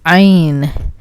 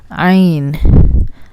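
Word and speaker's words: عین: Now we can go to our next letter, which is Ein. Ein. Ein. The sound is from deep into the throat. Ein. But in Pakistan, nobody puts that much effort into it.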